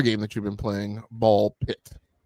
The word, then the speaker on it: BALL x PIT: Ball pit. Ball pit. That's right. You don't you don't pronounce the X.